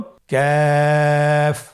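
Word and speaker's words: ك: আবার বলুন কাফ। কাফের মাখরাজ আমরা স্ক্রিনে দেখতে পাচ্ছি। কাফের মাখরাজ হলো জিহ্বার গোড়া থেকে একটু আগে বাড়িয়ে তার বরাবর উপরে তালির সঙ্গে লাগিয়ে উচ্চারিত হয়।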